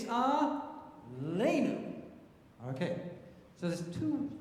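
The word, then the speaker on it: עלינו: So that word Aleinu is milel. It's not Aleinu, it's Aleinu.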